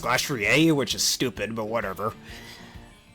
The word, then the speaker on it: Glastrier: I say Glastrier, but apparently it's supposed to be pronounced Glastrier, which is stupid, but whatever.